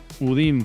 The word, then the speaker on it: UDIM: Eh, los udims es un sistema en el que tú encasillas. ¿Cómo se escribe? Udin. ¿Cómo suena? Udin con M. Al final.